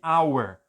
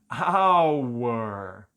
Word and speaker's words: hour: dizer ao ar porque porque aqui Hauer começa com h h é uma consoante mas esse H é mudo Olha não tem som então eu tô falando